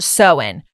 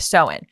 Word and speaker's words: Samhain: So Halloween originated from the ancient Celtic festival of Samhain, right? Samhain. No. In the thing we looked up, it literally said how to say it. Pronounced Samhain.